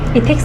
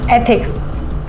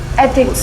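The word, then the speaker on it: ethics: इथिक्स नहीं, एथिक्स ऐसे pronounce करो। एक बार बोल के बताओ। एथिक्स।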